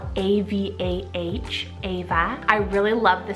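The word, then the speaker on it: Avah: We have the timeless name Ava, spelled A-V-A-H, Ava.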